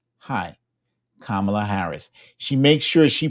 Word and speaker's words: Kamala Harris: holds out her hand and she says hi kamla Harris she makes sure she pronounces her name properly for that suab be